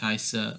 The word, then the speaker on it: heiße: And for the pronunciation, just to help with this one, for heiße, it's a E-I or an I-E thing. So the I gets pronounced, and the weird looking B is just two S's.